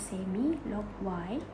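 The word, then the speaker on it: semilogy: on both x and y axis, and then semi-log y, this is pronounced as semi-log y, okay, where it use a log 10 base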